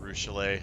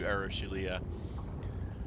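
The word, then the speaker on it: Arueshalae: Arushale. I've been saying her name wrong this whole time, I guess. I probably will continue to because I'm used to Arushalia.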